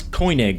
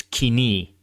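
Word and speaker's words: Koine: Uh, actually, it's not co, it's kini. I get this comment all the time. English words of Greek origin almost never use modern Greek pronunciation. In this case, the pronunciation co is based on the original ancient Greek pronunciation, co.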